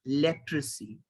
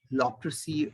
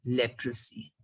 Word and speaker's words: leprosy: The word is leprosy and not leprosy or whatever you were saying, and it was spelled incorrectly on your slide. The word is leprosy.